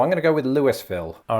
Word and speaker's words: Louisville: happening here i think famously the one in kentucky isn't pronounced lewisville and a lot of outsiders incorrectly pronounce it that way but i wonder if